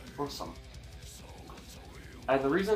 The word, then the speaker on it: Burzum: Now, Burzum is how most people pronounce it, but it's actually pronounced Borsum.